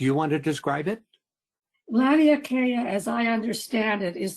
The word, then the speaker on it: Laniakea: that I know of, concept of Lani Ake. I'm sorry. Let me unmute you here because I probably murdered whatever that was. What is? I think it's pronounced Laniakea. Okay.